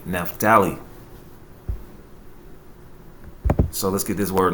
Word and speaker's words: Naphtali: And his name in the Hebrew is pronounced Naphtali, which means my wrestling or wrestling.